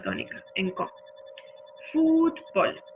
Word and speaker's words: fútbol: Fútbol, lo mismo, palabra llana que no termina en N, ni en S ni en vocal, le ponemos una tilde en la sílaba tónica.